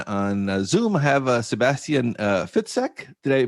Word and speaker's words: Fitzek: thriller author and on Zoom I have Sebastian fitek did I pronounce that right yes totally right thank you